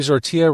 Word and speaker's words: Zortea: Zortea rhymes with tortilla.